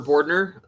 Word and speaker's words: Bordner: up next we have bordner correct me if I pronounce that wrong with slidewaters that's correct yeah hello good afternoon everyone my name is boardner and I'm one of